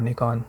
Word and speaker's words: Nikon: want to clarify that I love Nikon or Nikon depending how you pronounce it and they're great I you know my they're great company I hope my dad's all Nikon film camera was what